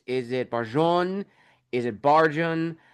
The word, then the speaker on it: Barjon: Is it barjun? How is it pronounced? And for me when I was writing his name I just went with the plain uh English version which is Baron.